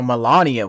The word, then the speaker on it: Melania: Uh, so Melania was how you say it, not whatever I said before.